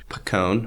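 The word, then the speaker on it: Paccone: from a presentation by Peter pone I think is how you pronounce that p a c c o n e and uh thanks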